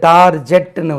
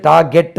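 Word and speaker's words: target: word இருக்கு நாங்க படிக்கும்போது இது டார்ஜெட்னு உச்சரிச்சோம் ஆனா இது டார்கெட் தான் டார்கெட் நாங்க படிக்கும்போது டார்ஜெட் சொல்லிக் கொடுத்தாங்க நம்மளுக்கு இப்ப டிக்ஷனரில நீங்க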